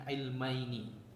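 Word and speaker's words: عِلْمَيْنِ: ya itu bukan ee bacanya bukan ilm bukan min ilmi tapi min ilmaini aslinya itu ilmaini ada nunnya nah dua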